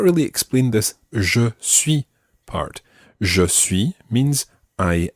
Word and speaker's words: suis: Suis is spelt S-U-I-S. French has many letters which end up silent in some situations, and S's at the end of words are very often silent. However, when they're followed by other words which begin with vowels, then you sometimes pronounce the S.